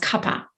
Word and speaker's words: Kapha: come together to form kappa dosha spelled k-a-p-h-a looks like kapha but it's pronounced kappa so kappa is cold moist heavy